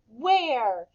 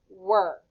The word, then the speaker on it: where: Where. Spell it with me. W-H-E-R-E, where. This is a tricky one because a lot of us like to say that this is the word were. But I'm going to tell